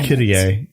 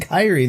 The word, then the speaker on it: Kirie: Kirie. Kirie. Damn it. I was so saying Kairi the entire time in my head.